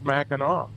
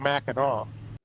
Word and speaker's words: Mackinac: Then the French came along and they sharpened it up to what looks like Mackinac but the C at the end is silent in French pronunciation so it's Mackinaw.